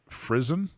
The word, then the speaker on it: frizzen: It allows passage of the sparks from the flint hitting the frizzen. Is that how you pronounce that?